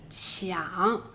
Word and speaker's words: 强: 词夺理，这两个词里面的强读音是抢。